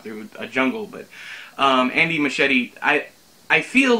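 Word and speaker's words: Muschietti: and over him but I believe it's Andy machete right I know it sounds like I'm saying my machete like a you know the knife sword thing they use a chop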